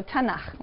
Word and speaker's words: Tanakh: Tanakh, which is really the letters T, N, and Ch. And they put little A's in there to make it easy to pronounce, because it's hard to pronounce. So Tanakh, okay?